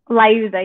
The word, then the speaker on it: Liuzza: Am I pronouncing that correctly? Liuzza, yep.